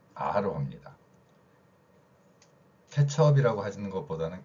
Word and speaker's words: 케첩: 그래서 케첩처럼 어로 발음해야 되는데 찹이라고 발음한다는 거죠.